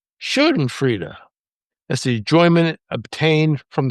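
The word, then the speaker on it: Schadenfreude: It's pronounced uh shenan freda.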